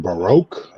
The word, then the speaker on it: Baroque: I think they're pronounced Baroque.